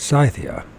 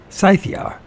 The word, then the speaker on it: Scythia: believe in that but if they say so scythia it's scythia scy why can't uh there be a universal language that everyone speaks this same damn freaking Way spells fanatically scythia scythia or scya is known as